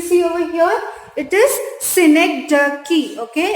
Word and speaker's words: synecdoche: pronunciation you can see over here it is synecdoche okay it's pronounced as synecdoche and it's very easy it's nothing very complicated